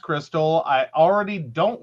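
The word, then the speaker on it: Krxstxl: the family the name of her daughter it's Crystal k r x s t x l she wants to name her daughter k r x s t XL confused the name is pronounced Crystal I already don't like the name but it's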